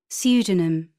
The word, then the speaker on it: pseudonym: The letters below in bold are silent in the examples. P, psychic, psychiatry, pneumatic, receipt, pseudonym, psychology.